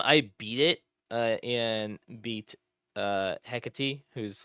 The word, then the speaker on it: Hecate: So the first time I beat it and beat Hecate, who's like your teacher. Is that how you say her name? That's how they say it in the game. I always said Hecate.